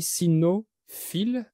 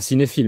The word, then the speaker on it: sinophile: Et tu connaissais aussi parce que tu es, comment on dit, sinophile? Pas cinéphile, mais sinophile, Oui, qui aime la culture cynophile.